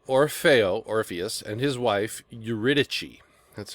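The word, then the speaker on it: Euridice: main characters are orao orus and his wife uichi that's how you say her name um and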